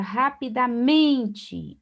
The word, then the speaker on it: rapidamente: Observe então a palavra rapidamente. Observe que o men é a sílaba mais forte, é a penúltima sílaba.